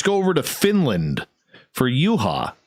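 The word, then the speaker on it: Juha: over to finland for uha which is spelled j-u-h-a u-ha mace may 6 1986.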